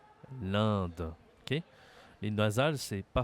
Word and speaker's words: l'Inde: la Gambie l'Inde l'Inde attention ici pour prononcer ce pays tu dois utiliser ton nez c'est une voyelle nasale l'Inde l'Inde OK les naasal c'est